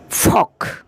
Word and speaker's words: folk: ফক, FOLK, ফক, FALK, ফক, উচ্চারণ হবে ফক।